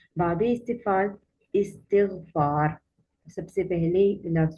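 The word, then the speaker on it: استغفار: तो आम तौर पर जब हम इस लफ्ज़ को प्रोनाउंस करते हैं तो हम इस्तिग़फ़ार पढ़ देते हैं, लेकिन ये इस्तिग़फ़ार है।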